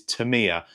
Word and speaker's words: Tamiya: love for Tamiya, or the correct pronunciation is Tamiya. I've been saying Tamiya since I was a kid, so it's going to be hard for me to transition over to the correct way to say it, Tamiya.